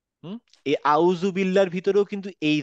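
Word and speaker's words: أعوذ بالله: বলি না হুম এই আউজুবিল্লাহর ভিতরেও কিন্তু এই দা টাই আছে আমরা বলবো হচ্ছে আউজুবিল্লাহ তার মানে জীবটা আমার দাঁতের ঠিক জীবটা দাঁতের ঠিক মাথায় লাগিয়ে অনেকটা দালের মত উচ্চারণ করবো মানে ঠিক আমার উচ্চারণটা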